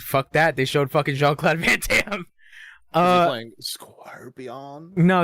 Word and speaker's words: Jean-Claude Van Damme: Jean-Claude Van Damme.